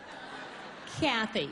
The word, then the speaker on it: Kathy: Kathy. Okay, Kathy. So the emphasis is on the first syllable, Kathy.